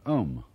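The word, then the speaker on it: Aum: sound is used because if you spell it out a u m it runs from the back of your throat to your lips and therefore it contains the whole range of The Voice and for that reason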